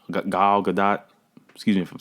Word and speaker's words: Gal Gadot: screen she delivers um i won't say her name wrong gail gadot gal gadot excuse me from saying it wrong she kills